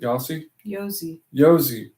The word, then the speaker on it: Yosi: Yosi. Kind of like Yogi Bear, but Yosi.